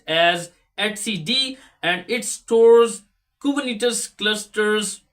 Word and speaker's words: etcd: cluster's current state and number four is the at CD it is pronounced as atcd or if you can say it etcd that is your choice but professionally it is pronounced as etcd and it stores kubernetes clusters everything all the